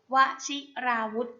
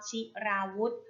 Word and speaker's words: วชิราวุธ: ค่ะ คำ ต่อ ไป ค่ะ คำ ว่า วชิราวุธ วชิราวุธ อ่าน ว่า วชิราวุธ วชิราวุธ ประกอบ ด้วย ว แหวน ช ช้าง สระอิ